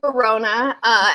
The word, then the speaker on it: Borruano: my last name is Verona and in the past I've always told people it rhymes with corona which is when you're